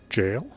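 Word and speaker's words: gaol: Bellerut Jail. Still kills me that that's pronounced jail. But, yeah, it's alright. It's sourced from a different language.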